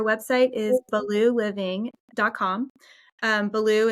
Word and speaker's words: Baloo: Um, Belaloo is like Belaloo the bear from the Jungle Book.